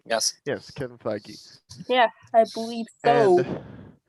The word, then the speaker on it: Feige: Yeah, would you The series was produced by Kevin Feige. I believe that's how you say his name. Yes. Yes, Kevin Feige.